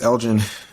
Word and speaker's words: Elgin: people elevator pitch uh my name is Elgin um I go by lgn as an artist or Elgin it's pronounced the same way um I am a